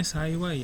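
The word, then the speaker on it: 幸い: Terus saiwai, ini bacanya saiwai ya.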